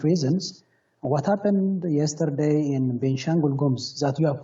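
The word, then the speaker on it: Benishangul-Gumuz: Now, at least 100 people were massacred by militia groups in Ethiopia's benishengul gumuz region yesterday. Sorry about the pronunciation.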